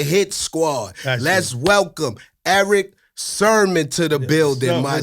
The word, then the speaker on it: Sermon: like, listen, Bleek, listen, you cannot call that man Sherman in his face. You have to say Sermon. Yeah, but that's how you say it though, Bleek. Yeah. You've been saying it like that. That's how what I said. You say it. But again, I make it easy and say it's a church sermon, because it's spelled the same way.